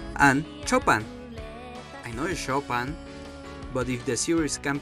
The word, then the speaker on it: Chopin: like Beethoven, Saint-Saens and "Chopa"n I know is Chopin, but if the series can pronounce it like that, why i can't I?